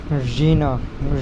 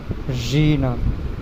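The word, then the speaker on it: жена: যে শব্দটি সেটি হল জিনা জিনা জিনা মানে স্ত্রী বা ওয়াইফ জিনা জিনা জিনা মানে স্ত্রী জিনা জিনা যখন উচ্চারণ করবেন উচ্চারণটা অনেকটা নাকের মধ্য থেকে আসবে জিনা জিনা মানে স্ত্রী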